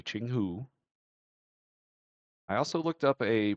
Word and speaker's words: Jianghu: I looked up a pronunciation guide. Uh, so it's supposed to be Chingghu.